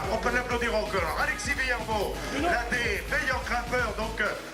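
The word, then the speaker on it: Vuillermoz: On applaudit Alexis Villarmeau sur le podium. On prononce pas le Z.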